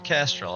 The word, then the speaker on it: Castrol: Oh, you got the Castrol. Okay. You got to pronounce that L. Casserole. Yeah, you can't leave the L out, or it sounds a little bit worse.